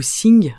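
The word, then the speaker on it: 性: dans notre esprit donc le Xing ou zing mais ça s'écrit avec un X c'est tout ce qui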